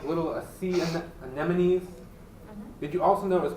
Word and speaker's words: anemone: there's like little sea anemones did you also notice pronounced anemone not an enemy Wow and so the